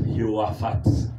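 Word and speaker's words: יהושפט: Josaphat, en hébreu, comme eux-mêmes le prononcent, Yehoaphat.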